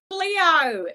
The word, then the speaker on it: Cleo: No, that's not how you say it. Here, let me show you what you're supposed to do. Cleo! That's how you're supposed to say it.